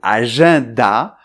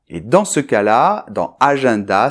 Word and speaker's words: agenda: So then it's true that in this word, « agenda », the - EN is pronounced .